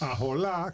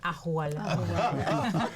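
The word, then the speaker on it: ojalá: Ajolá, que esto sería para que pensemos un ching. No se dice ajolá, se dice ajualá.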